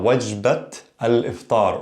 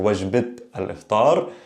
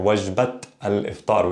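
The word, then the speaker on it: وجبة الإفطار: However, when there's some sort of possession here, the meal of breakfast, wajbat or wajbat al-iftar, we pronounce the T, the meal of breakfast.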